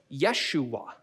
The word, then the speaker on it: Yeshua: for 2000 years see it turns out jesus's name was yeshua which if you haven't figured it out that's where we get our english name joshua from it's just that when they translated into greek they had no noise and so instead of yeshua it was yesuas and english speakers just said yeah that's jesus i'm saying his name